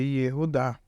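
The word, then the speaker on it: יהודה: Então aí a gente lê Yehudá. Mas como isso em si funciona? Vamos lá. Aí embaixo está escrito Yehudá em português. E aí está em dourado o U, que é representando essa letra Vav.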